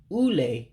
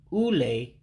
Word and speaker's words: ule: Ule, test. Ule, test. So again, the word for test is ule. So again, what looks like a U there to you is like a oo sound.